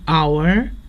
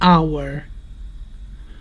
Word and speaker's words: hour: But we say an hour because here the h is silent and the word starts with a vowel sound. An hour.